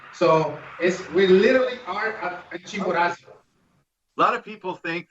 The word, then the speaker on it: Chimborazo: And that's pronounced, please. Chimborazo. Chimborazo.